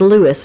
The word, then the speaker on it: Louis: know much about robert lewis stevenson it is important i'm glad that you uh said this it is pronounced lewis not louis i said louie earlier so i'm getting